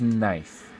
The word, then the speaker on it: knife: one's tricky this one's knife the K is silent and that's a tricky one so took out his